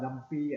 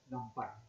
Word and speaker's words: NumPy: how to pronounce because a lot of people pronounce as numpy and numpai. Okay. Uh but the the the most of people they say unless if I pronounce not titan I'll pronounce as numpai.